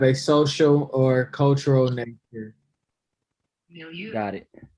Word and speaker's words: milieu: Milieu. Got it. Milieu is how they say it in the dictionary.